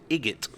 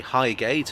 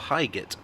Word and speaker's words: Highgate: of the trains and journalists accused them of pronouncing Highgate as igot so a bit of classism to go with your xenophobia there these days people seem divided as to whether it should be higate or HIIT I say High Gate